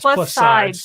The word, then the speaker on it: Plus SideZ: casting sides plus sides sorry is silent is silent right well it's like sides like many side because it's the plus sides of gop1 medication so and we just do a z because plus sides is taken oh yeah so we're